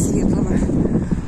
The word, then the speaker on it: Свердлова: Эта улица называется Светлов, а это называется Светлова. Хотя у нас в Мурманске принято говорить Светлова. А правильное ударение Светлова.